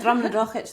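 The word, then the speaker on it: Drumnadrochit: But yeah, especially with the German market, a lot of English pronunciations, even with the Gaelic one, is very different. Although we have. You said Drumnadrochich there really beautifully.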